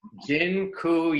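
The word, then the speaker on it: dziękuję: taught you all the a polish word for thank you it's genku yeah that I'm not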